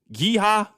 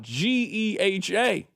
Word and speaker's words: GEHA: Rob, you remember we were calling it giha. And we didn't know how to say it. Somebody had to explain to us. No, that's not how you say it. You got to spell it out. G E H A.